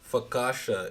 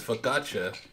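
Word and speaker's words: focaccia: Fakasha. Is it fakatcha? I think that's how you say it. Yeah, I I pronounced it wrong. It's fakkatcha.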